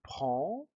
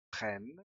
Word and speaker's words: prends: Très bien, donc je prends, hay una S, tu prends, S, il prend, desaparece. Je, tu, no se pronuncia ni la D ni la S. Et en, ¿ah? Muchos hispanohablantes dicen je prenne porque en quieren pronunciarlo